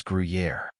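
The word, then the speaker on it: Gruyère: it is spelled as guui Yari the correct pronunciation of this word is guer guer means a type of firm cheese from Switzerland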